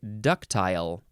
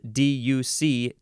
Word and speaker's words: ductile: it's hard to say ductile is next or you can say ductile because it is spelled d-u-c-t-i-l-e ductile ductile adjective from The 14th